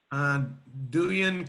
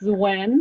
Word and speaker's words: Duyen: Duyen. Did I say your name right? It's actually pronounced Zuen. The D is like a Z in Vietnamese, but thank you for asking.